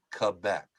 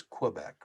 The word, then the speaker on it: Quebec: and the phonetic pronunciation for Q is Quebec. Mm. Now, where I come from, it's the province is Quebec, right?